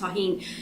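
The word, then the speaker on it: Tajín: So the closed captioning did not spell it correctly, but anyway, you saw me spell it Tajin, but it's pronounced tahine.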